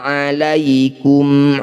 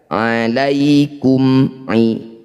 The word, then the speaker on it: عَلَيْكُمْ: Cara bacanya bunyi mim baca dengan jelas ya. Alaikum tidak usah ditahan. Alaikum jangan. Alaikum ibadallana.